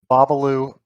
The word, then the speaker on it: Bobbaloo: сказать ваше имя, просто чтобы убедиться, что мы произносим его правильно babalu буги-ночь бабалу буги- ночь ну, так что в